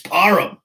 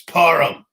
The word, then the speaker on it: Parham: I hate having to say it. It sounds stupid saying that. Parham. Parham. His name is Donald Parham. What the fuck? It's Parham. You're saying your own fucking name wrong. I don't give a shit if you're telling people how to pronounce your name the wrong way. Okay? It's Parham.